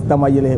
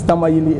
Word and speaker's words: Tamale: it's the hope so the correct pronunciation is Tamil a but possibly this is a colonial legacy since we are celebrating Independence they will be to make this right that it's tamale and not family but that has since